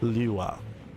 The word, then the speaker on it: Lewa: I don't know if I'm saying it correctly, so I'll spell it out. It's L-E-W-A, Lewa.